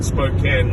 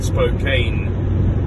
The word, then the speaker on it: Spokane: on from Spokan Washington you pronounce it Spokan not Spokane in spite of the spelling in spite of it having an e on the end so um there's going